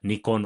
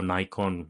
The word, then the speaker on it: Nikon: We have we had uh the the Japanese Nikon or Nikon whichever way pronunciation you prefer was very much in this marketplace.